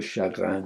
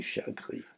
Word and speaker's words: chagrin: I turned and I wrote Le chagrin du chagrin. You have to pronounce it in your throat as if that R is as if you're gargling salt water to help your cold or your sore throat.